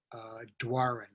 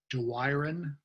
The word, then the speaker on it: Doiron: And so I grew up pronouncing it Doiron. And later in my life, I kept hearing my great aunt pronounce it in a more French way.